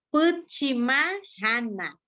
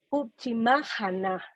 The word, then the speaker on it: Putchimaajana: Yo quisiera que me repitieras el nombre, Puchimayana, para aprender cómo es que lo debo pronunciar correctamente. Puchimájana, Puchimájana. Puchimájana, la red del pueblo guayú, Puchimájana.